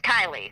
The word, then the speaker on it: Kiely: been versed and the girl's name is is kylie like you know like of course she's out